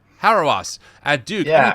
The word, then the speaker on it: Hauerwas: Hauerwas at Duke.